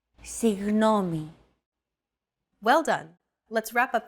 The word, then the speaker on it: Συγγνώμη: to pronounce a G as if an H sound were to follow after it and hold that sound while you exhale. The after sound created by that H is what you're looking for.